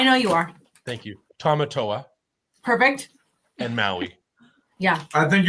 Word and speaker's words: Tamatoa: Tamatoa Perfect. and Maui. Yeah. I think you were saying it fine originally, Brandon. Tomato, Toa and Maui.